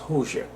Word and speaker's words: Hoxha: So that's spelled Hoxhaist, Hoxha, but it's pronounced Hoxha.